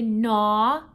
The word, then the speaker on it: gnaw: All right, and the next word is gnaw. Can everyone say gnaw? That doesn't mean like nah or nah. That means to gnaw. So that's spelled G-N-A-W. Gnaw.